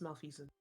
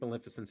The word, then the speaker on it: malfeasance: Malfeasance? I'm not sure Gesundheit. how to pronounce that one. It's malfeasance. Malfeasance. That's a new one for me. Hmm. I mean, maleficence is essentially the same thing that we're looking at.